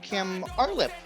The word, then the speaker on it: Kim Artlip: I have Kim Artlip. Is that correct? Yes.